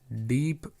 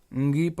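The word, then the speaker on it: ङीप्: उसके बाद हम हमारे अंतिम डीप ईप प्रत्यय की बात करते हैं दोस्तों। इसे हम डीप बोल देते हैं लेकिन ये गलत है उच्चारण। अंगीप प्रत्यय, अंगीप प्रत्यय।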